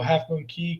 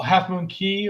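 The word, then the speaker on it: Half Moon Cay: As far as the ports, I love, like many people, Half Moon Key, K, however you want to pronounce it, and Grand Turk are 2 of my favorites.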